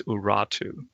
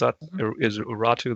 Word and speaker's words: Urartu: a lot of ancient literature will say it's Urartu. And am I pronouncing that right? Is Urartu the?